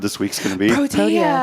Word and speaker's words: Protea: Just all you do is you spell it just like Pro and T. Pro and T. People are going to wonder, what's this Pro T you're talking about, Rob? Pro-T. Well, it's not Pro T.